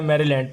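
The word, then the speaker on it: Maryland: तो एम से दोस्तों बनेगा हमारे पास मैरीलैंड, मैरीलैंड, इसको मैरी नहीं पढ़ना, मैरीलैंड पढ़ना है।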